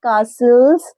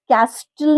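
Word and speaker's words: castle: children are building Saint कासल ऑन the beach मतलब बीच के पास में बच्चे सन कासल बना रहे थे कस्टल नहीं कहना है वहां पर जो टी है व साइलेंट है तो हाउ व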